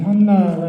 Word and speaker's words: 한나: 안나라는 말 그 뜻이 본래 구약에 나오는 사무엘 엄마 한나하고 같은이 한나가 헬라 히브리 발음이고 안나는 헬라 발음이에 그 뜻이 은총 하나님의 은혜라는 그런 뜻입니다.